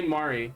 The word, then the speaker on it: Mari: Pronounce it differently. Say Mari.